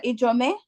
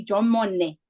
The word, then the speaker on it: Ijomone: Ijome, we're gonna, Ijomone, let me pronounce it properly. If I say Ijomone is correct? That will be fine.